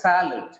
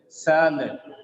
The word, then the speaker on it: salad: We read this actual pronunciation is not salad or salad, it is salad. It becomes sa because the first syllable sa is stressed. SA is stressed, that's why it gets the sound sa. When one sound is getting prominence, the second A becomes weak. That's why it becomes shwasa.